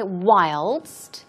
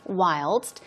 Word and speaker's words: whilst: it's chiefly British okay whilst whilst the st is pronounced so it means while